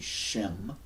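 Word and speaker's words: שם: it's supposed to be Shem. It means name. So we got Shem, which means name, and Sem. So that dot is an invention. They're like, we think it's pronounced sh, not s, because they have one letter that represents two sounds.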